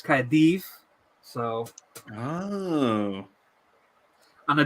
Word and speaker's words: Caerdydd: So like double D is pronounced TH. So people see Cardiff, the Welsh name is Caerdydd, but it's not, it's Caerdydd.